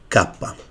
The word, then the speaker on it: kappa: This letter is called kappa.